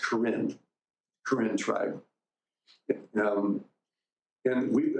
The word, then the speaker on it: Karen: Minister among the Corin that word Karen is is pronounced Karin Karin tribe um and